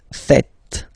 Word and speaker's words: faites: It's vous faites. Vous faites. Okay? So remember, final S here is not pronounced, and then this is not pronounced either.